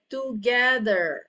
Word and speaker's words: together: All right, the word I said together. Okay, I don't say together. Together. Okay. The word, the last syllable, suku kata yang terakhir adalah together. T-E-R. Okay, so pronounce it as der.